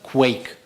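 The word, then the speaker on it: Quaich: that's the name of the project is it's pronounced quake so the quake is it's a drinking vessel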